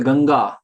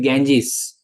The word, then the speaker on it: Ganga: as you know like for example ganga they make it Ganges even Indians when they go abroad they say Ganges what is Ganges it is ganga so similarly you know